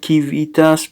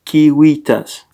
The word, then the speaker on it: kiwitas: so I was right it was not civitas but que Vitas and it's not kivitas but kiwitas with us King how